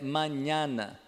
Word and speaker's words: mañana: Não tem esse an, né? É mañana.